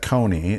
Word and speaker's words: Kony: resistant Haley led by coin Joseph coin and we're we here in America pronounce that Kony and at the beginning